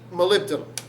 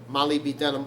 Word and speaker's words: molybdenum: hang on spell that so we say it m-o-l-y mali sometimes molly spelled two l's i know molly m-o-l-y b the letter b de nom d-e-n-u-m malibi denim or molybdenum as it should be said aeg